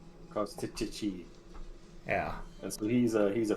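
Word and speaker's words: Kostchtchie: so it is spelled KOS And a whole lot of Y's. TCH, then TCH again, then IE. Kostichi.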